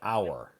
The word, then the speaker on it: hour: Well, before that we had hour. Oh. Oh, yes. Hour. Hour. H O U is also silent.